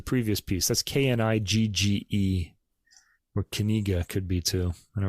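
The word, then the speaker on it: Knigge: piece that's k-n-i-g-g-e or kaniga could be too I don't really know knish kaniga and he's probably Dutch I think they pronounced the K by the way I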